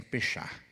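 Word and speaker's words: פשע: O salmista aqui usou uma palavra em hebraico que se pronuncia pechar.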